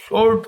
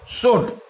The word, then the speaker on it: sword: এখানে মনে রাখতে হবে SWORD, আমরা প্রত্যেকেই শোর্ট পড়ি, কিন্তু উচ্চারণটা কিন্তু শোর্ট নয়, উচ্চারণটা হচ্ছে শোড, উচ্চারণটা হচ্ছে শোড।